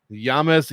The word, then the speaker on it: James: I said James Yontop, but Brady himself was pronouncing it Yames Yontop, so I'm going to go with that, taking on Taco Padilla.